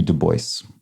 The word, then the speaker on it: Du Bois: So didn't pronounce it in the French way, even though that's obviously the origin of the name.